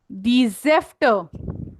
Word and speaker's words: Säfte: जेफ्ट में प्रोनाउंसिएशन थोड़ा अलग कर रही हूं क्योंकि उसमें आपको स्पेल कैसे करना है, एस ए के ऊपर उमलाउट, जेफ्ट ए उमलाउट FTE. Der Saft, die Säfte.